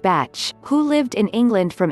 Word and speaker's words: Bach: remedies were developed by dr. Edward Bach pronounced batch who lived in England